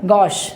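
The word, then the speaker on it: gauche: ये ध्यान रखना, इसका प्रोनाउंसिएशन है, प्रोनाउंसिएशन नहीं, इसका प्रोनाउंसिएशन है गॉश। इसे क्या पढ़ते हैं, गॉश पढ़ते हैं।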